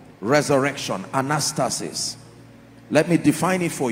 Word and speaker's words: anastasis: Resurrection comes from a Greek word called anastasis. Anastasis, let me spell it for you. A-N-A-S-T-A-S-I-S. One more time. A-N-A-S-T-A-S-I-S. Anastasis.